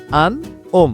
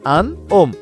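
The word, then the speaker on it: un homme: ওম বাট এ কষেত্রে যে liaison হচ্ছে Yoon উচ্চারণ হবে আন আন ওম মানে একজন পুরুষ আন ওম একজন পুরুষ এটা জায়গায় সাইলেন্ট ও থেকে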